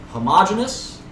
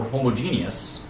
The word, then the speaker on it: homogeneous: And you can pronounce these either way. Homogeneous or homogeneous. The same thing here, heterogeneous or heterogeneous. I'd prefer, I think in America we say the gene, homogeneous. You can also say homogeneous.